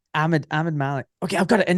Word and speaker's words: Ahmad Malik: Ahmed Malik, Ahmad Malik. And I'm like, no, dude, just Ahmed Malik. Okay, I've got it. And then he goes, Ahmed Malik.